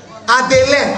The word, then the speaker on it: Adélin: C'est D, c'est D, c'est pas B, c'est D. Adélin, Adélin, Adélin. Allô? Ouais, on a qu'à finir ça, on va rentrer dans pour Jésus là. Voilà, D. Voilà. Bravo. Tu as bien prononcé maintenant.